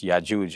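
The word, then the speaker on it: يأجوج: But in the Hebrew, the jim is pronounced with, it's a hard G. So Gog and Magog, whereas in Arabic, it's the soft G, like in George. Hmm. So it's Ya'juj and Ma'juj.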